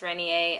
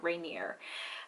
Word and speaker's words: Rainier: now think that it's the mountain is pronounced renier i'm here to inform you that it's not it's mount rainier um and it's an